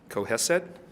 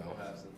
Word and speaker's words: Cohasset: Now I'm going to pronounce this wrong. Coheset. No, Cohasset.